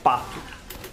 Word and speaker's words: pato: In Portuguese, duck is pronounced said like pato.